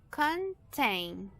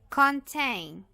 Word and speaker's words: contain: está fechada essa sílaba, mas nós temos um dígrafo vocálico que tem uma vogal longa, que tem um som longo, ok? que é o som A. So, contain, contain.